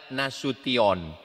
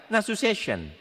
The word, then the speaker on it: Nasution: Cara membacanya nasution. Ada pula pembawa acara yang baca nasu session.